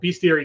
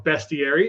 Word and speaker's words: bestiary: in this campaign because it is both beastiary 2 or bestiary if you uh pronounce it the way it's spelled in the Latin nasty right we have